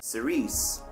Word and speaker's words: Cirice: Cerise is actually just a mispronounced church.